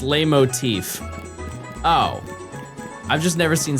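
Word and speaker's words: leitmotif: It's pronounced lay motif.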